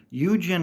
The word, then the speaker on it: Eugen: already went over VSA Eugen is another one I've heard people say kind of weird Eugene and then I've heard people say I know I know it's not spelled e u g NE like Eugene but that's how I want to say it okay you say it however you want to it's Eugen again said multiple times throughout Mission dialogue Eugen and